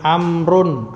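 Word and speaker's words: عمرو: Kalau tulisannya seperti ini, ada wawunya, ini Amrun, Amr. Ini yang sering dipanggil Amr, Amr ibnul As, seperti ini Amr.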